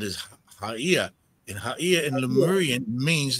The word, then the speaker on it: Gaia: Haia is how to pronounce Gaia properly. When you say Haia, you are saying the return of the sacred breath. That's what it means. Haia. Haia. Haia. Yeah, not Gaia, because it's not Gaia.